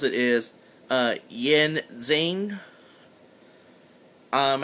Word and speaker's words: Yin Xing: As for the name of the company, the best I can pronounce it is Yin Xing.